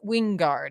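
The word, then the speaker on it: Wijngaard: you pronounced his you I asked him I was like how do you say it and I had I had him winguard he just said just the J as silent okay um so I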